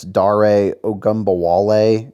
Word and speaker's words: Dare Ogunbowale: I'm not even going to pretend like I know who this guy is or how to pronounce his name. It's Dare Ogunbowale.